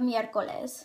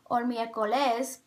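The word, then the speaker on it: miércoles: it has three syllables the oral stress is on the e of mircoles the first team it isn't pronounced miercoles so you know that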